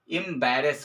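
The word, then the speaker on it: embarrass: एस ठीक है imbalance ठीक है इसका जो उच्चारण होगा या इसकी प्रनंसीएशन होगी इंर्बरास होगी ठीक है उसके बाद से 11th नंबर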